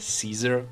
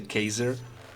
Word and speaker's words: Caesar: freely now, is that they did not pronounce C, but they pronounced C as a K. So it wasn't Caesar, but let's say Kaiser.